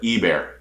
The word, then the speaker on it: Ebare: And again, I want to say, and I know I pronounced his last name wrong in a video I did probably years ago, Dakota, and I think his mom corrected me in the comments, and I appreciate that.